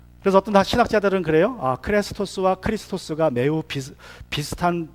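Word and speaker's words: Χριστός: 뭐 한말로 하면 크레스토스 할 때 친절이라는 말은 좀 긴 에 발음이고, 그리고 크리스토스는 같은 비슷한 발음인데 짧은 이 발음이에요. 그냥 크리스토스.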